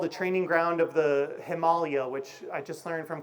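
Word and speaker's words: Himalaya: They're called the training ground of the Himalayia, which I just learned from Conrad Anker is the way to pronounce that word.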